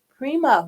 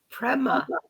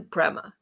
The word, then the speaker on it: Prema: us all about it Prima welcome to the show Prema Prema still said it wrong how to say your name correctly and what it means Prima is a Sanskrit word for divine love and it's a name